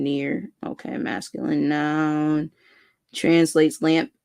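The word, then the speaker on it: נר: So pronunciation near.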